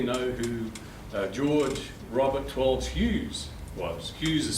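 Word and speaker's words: Hewes: And you might all, does anybody here know who George Robert Twelves Hughes was? Hughes is spelled H-E-W-E-S.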